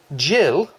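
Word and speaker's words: gill: to be using this the half Jill I believe is the pronunciation the half Jill measure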